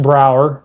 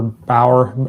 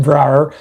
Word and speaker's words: Brower: Now, with coach Brower or Bower, I'm sorry if I'm pronouncing that incorrect. You said it right the first time. Brower.